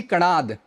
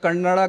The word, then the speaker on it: कणाद: पूरा है ये ऋषि कणाद, ठीक है। इसको इंटरनेट में देखिएगा, मिस प्रोनाउंसिएशन बहुत होता है, कन्नड़ा कोई कहते हैं, कोई कनाडा कहते हैं, बट कणाद है ये, ठीक है।